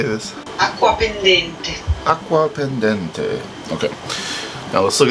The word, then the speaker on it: Acquapendente: The next beauty, we've got an 1815 letter from Aquapendente to Bagnoria. Alrighty, let's look up how to say this. Acquapendente.